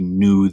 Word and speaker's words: knew: didn't have before and new with the silent k is about knowing something you know he knew the answer a couple of oddballs